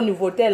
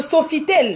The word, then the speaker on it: Sofitel: Nous sommes au Nouveau-Tel. Hein. Hein? Qui a dit nouveau? Oh. Non, Nouveautel. C'est pas Nouveautel. Qu'est-ce que tu racontes? Pardon, il faut bien prononcer, maman. Non, ça s'appelle le Sofitel.